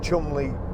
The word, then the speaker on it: Cholmondeley: I was lucky enough, again, Ford invited me to, well, it's spelt Cholmondeley, but I think it's Cholmondeley Castle, and they invited me there to drive the new Ford Fiesta when it came out.